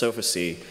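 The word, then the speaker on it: Sofacy: The second group, Fancy Bear, so named because their malware is can be pronounced Sophacy, and that song I'm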